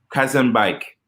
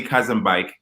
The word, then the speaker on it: Khazanbeik: say your last name early cousin bike gotcha cousin bike whoo the title the title I'm giving you